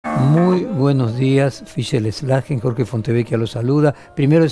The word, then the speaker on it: Szlajen: Slagen está perfecto, Bueno. sí, como si fuera una S, es SZ porque es de origen polaco, pero bueno, en castellano se pronuncia como si fuera una S, en polaco sería como si fuera una SH, como Schlagen, pero en castellano con Slagen es suficiente.